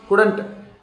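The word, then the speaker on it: couldn't: कुडंट, कुडंट, L silent है, बोल के देखिए एल साइलेंट करके, कुडंट, तो कुड नॉट।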